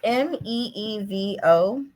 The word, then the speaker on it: Meevo: But like we use Mevo for our How do you spell that? it's Meevo. Oh, Mevo.